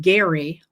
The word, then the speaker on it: Gerry: And the um the concept the idea of gerrymandering comes from Elbridge Gary spelled the same pronounced differently.